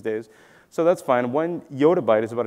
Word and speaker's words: yottabyte: And as some people pronounce it yettabyte, I prefer yottabyte is what I prefer, I'd say.